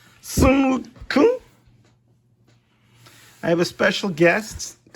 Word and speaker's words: Sun Wukong: Sun Wukong. Sun Wukong.